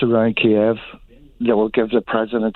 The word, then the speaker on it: Kiev: or two kia and it is kiev it's not keiv it's kiev once it's around kiev that will give the